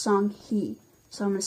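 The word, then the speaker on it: Songhai: already beginning to emerge the people of song song hey it's actually pronounced sung-hee so I'm going to say it like that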